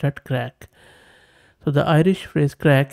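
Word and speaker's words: craic: ignorants like me so it says it is pronounced at crack so the Irish phrase crack is a term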